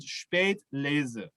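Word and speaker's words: Spätlese: and then the laser the s is a kind of a buzzing s sound so it's called spade laser and that means the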